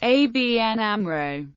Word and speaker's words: ABN AMRO: up the word Amro the letters in ABN are pronounced separately and Amro is pronounced as a word for this reason some media spell the name as ABN Amro in written text both